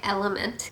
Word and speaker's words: LMNT: So I'm excited to share with you that this video is sponsored by LMNT. I pronounce it LMNT. It's actually spelled LMNT.